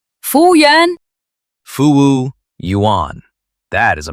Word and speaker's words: 服务员: 服务员. 服务员. Okay, let me try. Fu yuán. Like that? A little bit too flat. The second syllable, 物, goes down, like you're dropping something. 服务员.